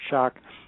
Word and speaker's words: Schoch: to clarify my my last name is Robert shock many people know that but then they want to misspell it and put a K on the end